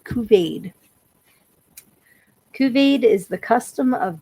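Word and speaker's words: couvade: Okay, Kuvade is how we're going to pronounce this. It's C O U V A D. Kuvade.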